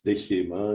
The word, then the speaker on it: DECHEMA: It's Dechema in German, if you wanted to know that.